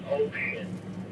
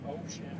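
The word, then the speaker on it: Wouxun: brand of radio wson he said it's pronounced Ocean or something like that with the TR Chinese translation now you might say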